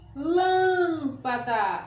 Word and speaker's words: lâmpada: dessas palavras a lâmpada lâmpada a sílaba tônica é lan e é acentuada da cômoda como